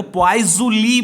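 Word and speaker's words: Poiseuille: Spelling ये होता है, देखो पॉइजुली बोला जाता है इसे, POISEIULLE, पॉइजुली। और इसे शॉर्ट में ऐसे लिखा जाता है, PL लिखा जाता है। ठीक है, PL ऐसे लिखा जाता है, PL, पॉइजुली।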